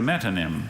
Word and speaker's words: metonym: Thalarctos has been dismissed as a metonym by taxonomists, arguing that the polar bear belongs rather to the genus Ursus.